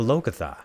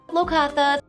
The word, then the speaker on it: Locathah: our campaign, our Waterdeep Dragon campaign, called the Locathah.